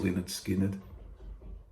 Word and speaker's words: Lynyrd Skynyrd: And from 1973, this is a masterpiece of an album, pronounced Lynyrd Skynyrd.